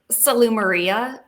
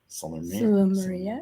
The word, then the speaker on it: Salumeria: I say Salumeria, Salumeria. but an Italian person would probably tell both of us that we're saying it wrong.